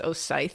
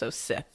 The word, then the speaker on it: Osyth: It is Oith like the Star Wars villains I learned doing cuz I it's pronounced or it's spelled Saint O S Y T. So, I thought it was Oy for a while, but it's O Sith.